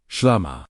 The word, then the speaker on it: shlama: One of those remarkable words is shlama, pronounced shlama.